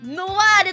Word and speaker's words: ノワール: もいいかしらへこの文字は漆黒と書いてノワールと読むでござるえそう